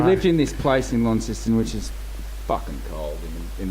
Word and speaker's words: Launceston: So it is Launceston, or is it Launceston? Launceston. Right. It's a tricky one for some people. Yeah, you can get It's in trouble. the middle syllable's the Right. key. New Zealanders can't be dealing with it. What do they say? Launceston. It would be lawn system, wouldn't it? Sounds South African.